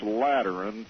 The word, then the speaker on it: Lateran: By terms of this Lateran treaty, did I pronounce that right?